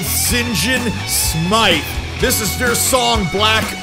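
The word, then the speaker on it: Sinjin Smythe: These guys reign out of London, Ontario, and they're called St. John Smythe.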